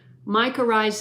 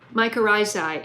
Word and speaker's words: mycorrhizae: you have these mic I always I always pronounce this the wrong way mica rise I I think is the correct way Eric ed double-dog can